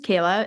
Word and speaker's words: Kehla: you yeah so I my name is Kayla it's spelled differently and I know that